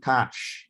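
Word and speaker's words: cache: which let me okay cash is like a touch depending on how you're pronouncing it cash that's how i think it's from french word it's like a middleman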